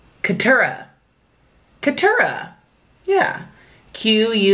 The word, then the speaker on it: Keturah: I shall say her name is quateria yes quatera Katura Katura yeah q-u-e-t-u-r-a-h Keturah you should probably pay attention to when she